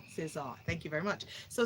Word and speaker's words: César: Shevja, can you do us the honors of pronouncing this award? César. César.